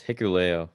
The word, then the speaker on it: Hikuleo: I'm pretty sure it's Hikuleo. Like that's like how I'm gonna say it. That's But how I yeah, say it. Bullet Club Hikuleo, Yeah.